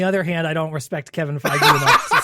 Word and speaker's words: Feige: It's pronounced There we Feige? Feige? Yeah, Kevin Feige. I thought it was Phage.